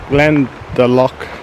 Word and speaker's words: Glendalough: Swedish or whatever they're all related um so Glenn the lock is gland or lock which is Glenn of